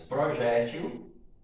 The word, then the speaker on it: projétil: As palavras projétil e réptil. No caso, projétil e réptil são duas palavras paroxítonas.